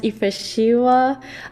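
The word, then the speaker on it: Yifrashewa: I think his name is pronounced Ifeshiwa, who's a really famous pianist from Ethiopia.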